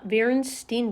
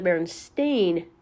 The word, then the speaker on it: Berenstain: spelling this t-o-o-n-s The Berenstein Bears did not exist The Lovable cartoon bear family actually spelled their last name with an A and it's pronounced the Berenstain Bears not The Berenstein Bears and while we're